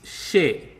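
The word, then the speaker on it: शे: And she is pronounced like she in shell.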